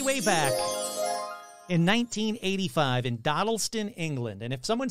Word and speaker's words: Dodleston: This one starts way, way back in 1985 in Dodleston, England. And if someone says you're pronouncing Dodleston wrong, it's Dodleston.